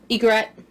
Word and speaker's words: Ygritte: Ygritte, she was the little spoon. Oh. Her name's John and Ygritte. Ygritte. Like the bird.